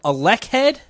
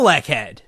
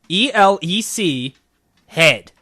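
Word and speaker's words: Elechead: so you know a lackhead i i feel like you're definitely not saying it right it is e-l-e-c head one word elec head like electric alec head no because you don't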